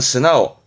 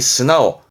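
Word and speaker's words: 素直: 이게 또 순수함도 의미했고, 그래서 올곧고 순수하다는 의미에서 발음은 스나오. 요 고들직자가 고치다라는 동사로 나오스니까 발음이 스나오.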